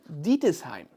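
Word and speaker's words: Ditesheim: The company was founded in 1881 by Achille Dietesheim. Yeah, that's the way we pronounce it in German.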